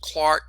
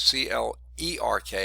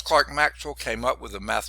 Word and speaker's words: Clerk: scottish physicist named james clark maxwell now it's spelled like it's c-l-e-r-k it looks like it's clerk maxwell it's actually james clark maxwell came up with a